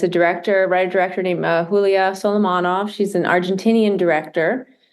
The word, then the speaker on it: Julia: Julia, but it's pronounced Julia.